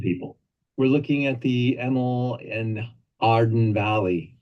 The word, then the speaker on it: Hemel en Aarde: We're looking at the Emil and Arden Valley. Did I pronounce that correctly? Very close. Hemel en Aarde means heaven and earth in Afrikaans and Old Dutch.